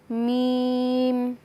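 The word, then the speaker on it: ميم: দেখতে পাচ্ছি ম এবং যদি উচ্চারণের স্থান দেখি তাহলে আমরা এখানে দেখতে পাচ্ছি দুই ঠোঁট তে উচ্চারণ হবে আমরা যদি হরকত দিয়ে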